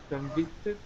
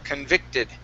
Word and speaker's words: convicted: Convicted. Okay, give me a short I instead of convict. It's convict, convicted.